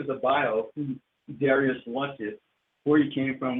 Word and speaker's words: Darius Lux: Darius Lux. So it is Darius Lux.